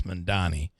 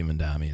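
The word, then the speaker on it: Mamdani: And I always use an M when I pronounce his name. It's Mandani. I think it should be Mandami.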